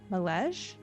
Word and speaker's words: Malege: hauled away by the Malege. Mm-hmm. Did I say it right? Malege? Yep.